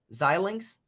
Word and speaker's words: Xilinx: earnings report xilinx is how you say it xilinx who cares it's a stupid name it's AMD now but anyway um that's interesting to me that's really interesting because if that mostly is xilinx or whatever now if you came over here